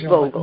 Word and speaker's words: Vogel: Yeah, not it is Vogel. Vogel.